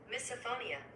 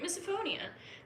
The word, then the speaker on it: misophonia: not what I was looking for though okay pronunciation come on misophonia I was right misophonia my fiance hates when cats lick themselves yeah